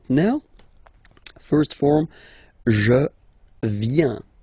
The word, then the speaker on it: viens: First form, je viens. Final S not pronounced. Je viens. Remember, I-E-N, ien, ien.